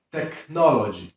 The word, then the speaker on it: technology: Oczywiście są pewne reguły, na przykład najczęściej CH wymawiamy jak K, na przykład character, czyli charakter, albo charisma, czyli charyzma. Albo jak te CH stoi w środku wyrazu, na przykład technology, czyli technologia.